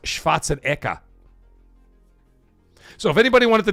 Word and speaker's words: Schwarzenegger: It's it's his actual name is pronounced Schwatzenka. So if anybody wanted to know how you actually say his name, his name is Arnold Schwatzenka, not Schwarzenegger.